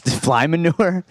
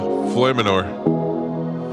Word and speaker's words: Floyymenor: Fly manure. Floymanor, FLOYYMENOR. Yeah, Floymanor. Floymanor.